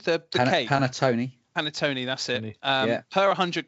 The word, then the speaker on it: panettone: I'm going to struggle to pronounce this rightly because of my dyslexia. Is it Pantone, the cake? Panettone.